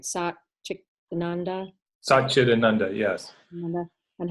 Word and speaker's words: Satchitananda: and we were talking about, I might not say it right, Satchitananda, Satchitananda, yes.